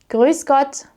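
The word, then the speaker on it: Grüß Gott: And it's pronounced like a harsh s sound like in the word snow.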